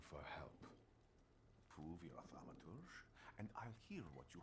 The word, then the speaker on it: thaumaturge: I'm a thaumaturge.